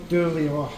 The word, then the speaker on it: Eilean: How do you pronounce the restaurant's name? Eilean.